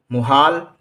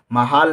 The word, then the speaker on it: मुहाल: महाल नहीं कहा जाएगा, मुहाल कहा जाएगा।